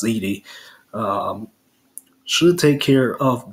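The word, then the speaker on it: Edey: Purdue with with Zach Eddy you know and I always get his name wrong I believe it's pronounce Edie um should take care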